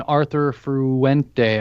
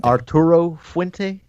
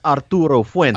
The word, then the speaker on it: Arturo Fuente: Yeah, I think it's Arturo Fuente. Yeah, see, I can't even say it. See, though there's no R. Arturo. It's Arturo Fuente. Arturo Fuente.